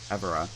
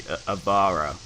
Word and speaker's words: Avara: Because I probably pronounced it Avara, which is very incorrect, but I pronounced it that way for so long. It's actually Avara, I believe, which is Finnish for wide open spaces.